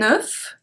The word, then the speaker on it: œuf: And the first one we are going to see today is un œuf. So here we pronounce everything.